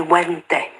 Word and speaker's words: venti: a venti, or, well, it depends how you pronounce your Latin. You see, back then, Latin was, it began to be pronounced in two ways. So it's V-E-N-T-I, but the old style Latin, you would not pronounce the V. It would be vente.